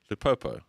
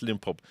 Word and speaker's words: Lupopo: Lupopo. Lupopo. Lupopo. Lupopo. Not Limpompo. Not Limpopo. Saint Eloi Lupopo.